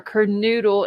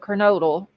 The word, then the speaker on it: Kernodle: But it's always Zana instead of Xana, or Kernoodle instead of Kernodle.